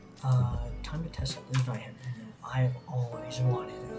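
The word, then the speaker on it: Zweihänder: None of you YouTubers should be pronouncing it Zweihander. It's not French, it's German. Zweihander, German. So I'm going to be showcasing two weapons, the Zweihander and the Red Nose.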